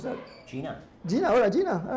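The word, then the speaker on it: Gena: n a pronounce that Gina Gina Gina all right just spelled differently but I know Gina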